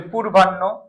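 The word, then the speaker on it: পূর্বাহ্ণ: হাদি আল হাদি তাহলে এই বর্ণগুলো যদি কোন শব্দে আসে উচ্চারণের ক্ষেত্রে পরেরটা আগে চলে আসবে পরেরটা কি চলে আসবে বলো? আগে চলে আসবে। এগুলো আসলে পরেরটা কি চলে আসবে? আগে চলে আসবে। ক্লিয়ার? অনুরূপভাবে আমরা যদি বলি পূর্বান্য পূর্বান্য এটা হল মূর্ধন্য। তাহলে কি হবে? দীর্ঘকারটা রসুকার হবে। পুর রেটার হবে পুর তাহলে কি হবে? বান বান পুরবান। মোস্ট ইম্পর্টেন্ট পরীক্ষা আসার মত পুরবান।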